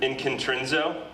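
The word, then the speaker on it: ἐγκεντρίζω: I pronounce this word inkintrinzo.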